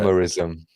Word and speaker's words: euhemerism: How do you pronounce that? Euhemerism.